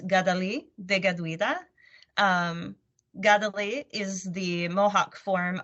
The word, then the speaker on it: Kateri Tekakwitha: The more accurate pronunciation of her name in Mohawk is Kateri Tekakwitha.